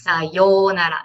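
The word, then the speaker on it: さようなら: That's because it's the pronunciation. If you put, for example, sayonara, okay, the sayonara is the hiragana no U. That's a proper way to write it. But if you pronounce it, it's O. So it's sayonara, not sayonara.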